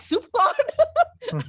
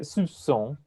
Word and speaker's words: soupçon: Any C with a cedillo, and that's the little thing at the bottom, is pronounced like an S. Like français. Where's the P for? Soup. It's No idea. it's a silent P, but it's because it's a French word.